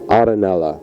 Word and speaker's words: Arenella: It's an old Neapolitan Italian name, Arenella. Arenella.